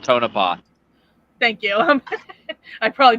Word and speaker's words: Tonopah: haunted clown motel in topa yeah yeah all right yeah okay it's called tonopah thank you i probably